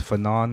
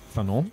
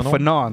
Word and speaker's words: Fanon: like I feel like we pronounced fenan wrong like get hit it with the French part fon yeah right I could say fan though right all right so